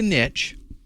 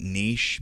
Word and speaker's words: niche: to start pronouncing that Niche because I think it's a French word and that's the way you're supposed to pronounce it but uh I'm from